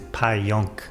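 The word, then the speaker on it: Pająk: So so it's a little bit confusing but I was actually born in Poland and how to pronounce it in Poland is Pajonk.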